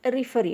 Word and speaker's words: referee: In referee also. Referee. So re is the last syllable.